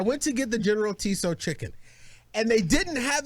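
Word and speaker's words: Tso: don't put it in tea so so it's pronounced general sal chicken is what it's pronounced yes okay so i went to get the general tiso chicken and they didn't have it available it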